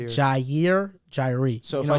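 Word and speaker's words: Jaire: Jairi. You're good. I was going to say that. Yeah, you're good. Jairi is not how you say it.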